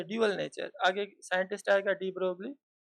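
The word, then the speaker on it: de Broglie: आगे साइंटिस्ट आएगा डी ब्रोगली, या उसे डी ब्रॉय कहते हैं, मगर स्पेलिंग कुछ ऐसी है।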